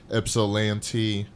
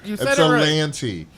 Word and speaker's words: Ypsilanti: Ypsilanti. You said it right. Ypsilanti.